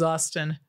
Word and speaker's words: Austin: reviews my name is Austin rhymes with I guess Boston it's a place they're